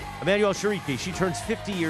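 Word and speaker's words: Chriqui: Shiqi. Shereiki. Emanuel Shariki.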